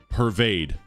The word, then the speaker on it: pervade: Pervade. Pervade. Pervade. Pervade. Pervades unstressed, stressed, I believe.